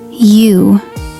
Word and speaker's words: Yew: Yew. Y-E-W. It means a type of tree, but it's pronounced exactly like you.